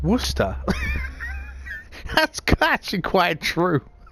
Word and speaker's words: Worcester: it right away but why is Worcestershire pronounced Worcester that's command quite true